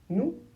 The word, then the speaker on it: nous: Et le s soit on ne le prononce pas et on prononce nous quand le verbe suivant commence par une consonne